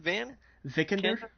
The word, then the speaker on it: Vikander: Alicia, how do you pronounce the last name? Vikander.